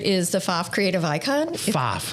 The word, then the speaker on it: Pfaff: PFAFF. How do you spell that? PFAFF. Everybody says it wrong.